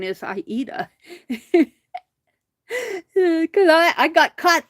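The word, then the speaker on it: Aida: uh I a cloth some people call it Ada cloth uh if you're in the needle work indust or area and have a lot of needle work friends you learn very quickly that the correct pronunciation is iita because I I got caught there but uh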